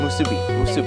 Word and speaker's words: musubi: Musubi.